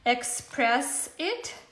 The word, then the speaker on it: Xpress It: choice to use this copic markers is called express it so it's spelt like this let me write it for